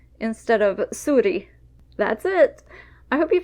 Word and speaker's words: zuri: In Standard Basque, Z is pronounced a lot like the English S.